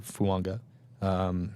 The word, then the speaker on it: Fuaga: So Taliese Fuaga is there, or for Fuanga. It's the appropriate way to pronounce this.